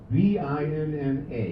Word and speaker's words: Vinna: V-I-N-N-A. How do you pronounce it?